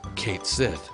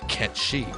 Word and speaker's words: Cait Sith: hilarity when I first saw this character I pronounced his name Cates if it wasn't until 1999 that I learned the